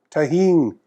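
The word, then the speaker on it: Tajín: I season it with Tajin it's a common seasoning in Mexico it's spelt t8j I am the J is silent Tajin seasoning it's delicious great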